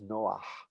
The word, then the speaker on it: Noach: account of the flood, is known in Hebrew not as Noah, but as Noah.